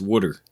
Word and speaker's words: water: in the carry earlier if you're in Philly it's wooder it is wood yeah we